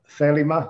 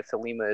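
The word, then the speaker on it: Thelema: there's an order of felima i mean i i i'm still inclined to put the accent on the first uh for first syllable yeah we're very uh americanized pop culture pronunciation over here um yeah there there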